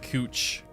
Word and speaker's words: Couch: Street in Portland that's it's spelled couch but it's pronounced cooch so we got weird